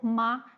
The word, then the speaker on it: 妈: For example, if you say this syllable ma in different tones, you mean different things. Like the first tone, it means ma, it means mom.